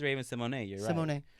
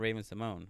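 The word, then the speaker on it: Raven-Symoné: song all the time but it is Raven Symone It's Not Raven Simone we've been saying it wrong for decades you're welcome Raven we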